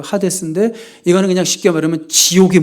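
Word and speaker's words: Hades: 하데스는 헤이지라고 읽으면 안 되고 하데스인데 이거는 그냥 쉽게 말하면 지옥의 문이에요.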